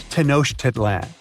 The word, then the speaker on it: Tenochtitlan: Okay, it's Tenochtitlan. And Mayan cities are hard to pronounce too.